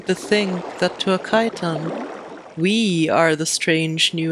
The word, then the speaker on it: chiton: These are chitons. Some North Americans pronounce it chiton, but I will honor the Greek origin of the word and stick with chiton.